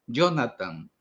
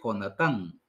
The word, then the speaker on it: Jonatán: asentamos la primera sílaba el hebreo es como el español tiende a ser palabras agudas hay que acentuar al final no va a decir Jonathan va a decir jonatán por ejemplo un segundo consejo importante